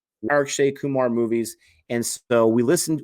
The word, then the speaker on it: Akshay Kumar: feel like I'm always saying it wrong it's Akshay Kumar and RJD Kumar is super big stuff he